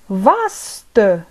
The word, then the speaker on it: vaste: vaste واسع أو واسعة، بالمذكر وبالمؤنث نقول vaste vaste، في الحالتين نقول vaste vaste vaste vaste.